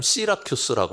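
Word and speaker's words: Syracuse: 그 발음을 뭐라고 하느냐면 시라큐스라고 말합니다.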